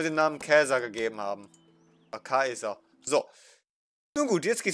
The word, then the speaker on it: Caesar: Wir würden zum Beispiel Julius Caesar sagen, aber es könnte sein, dass die Römer ihn wortwörtlich Julius Kaiser ausgesprochen haben.